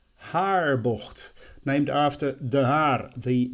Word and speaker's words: Haarbocht: So, corner number 1, Haarbocht, Haarbocht, named after De Haar, the village that it is closest to.